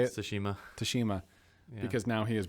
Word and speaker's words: Tsushima: Tsushima.